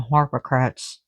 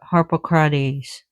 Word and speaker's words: Harpocrates: Harpocrates, or they call Harpocrats here, but Harpocrates.